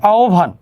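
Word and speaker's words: আহ্বান: সরিয়া আছে হয়ব আছে, তাহলে সরিয়ার পরে আমার কি আসবে, আগে একটা ও চলে আসবে, আর হয়ব এর পরিবর্তে কি আসবে, ভ আসবে। তাহলে আও ভান, তাহলে উচ্চারণটি কি হবে, আও ভান, আও ভান, উচ্চারণটি এরকম।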